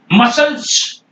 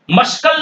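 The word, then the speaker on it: muscle: है दिया गया है जब सी आपका s के साथ स के साथ कंबाइन होके आता है अब आप सी को नहीं बोलते हैं एग्जांपल देख यहां पर मसल्स you know मसल्स मसल क्या है यस के बाद में सी है आप सी को नहीं बोल रहे हैं मस्कल नहीं बोलना मसल है मसल और सीजर्स सीजर्स यहां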